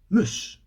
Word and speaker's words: moose: This is a very small animal, moose, as in mouse.